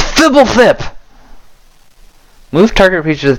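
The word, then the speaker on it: Fblthp: And Fibblethip is spelled PHBLTHP. There's no vowels. Fibblethip.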